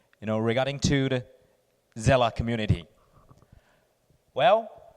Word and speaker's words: Seele: the gsella community well many people will the first time to see the word of gsella they probably will pronounce a as Cu but I have to say this word comes from German Germany and it is a german word means soul yeah and which refers